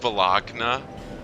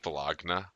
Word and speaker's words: Bologna: it's pronounced Bologna. I hate to be a stickler for that, but it's pronounced Bologna.